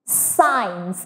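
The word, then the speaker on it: science: দিয়েছি look at this সাইন্স এখানেও কিন্তু আই এর আগে সি আছে অ্যান্ড এটা সাইলেন্ট আমরা এখানে সি এর কোনো প্রোনাউন্সিয়েশন কিংবা উচ্চারণ দেখতে পাচ্ছি না সো খুব ইজি একটা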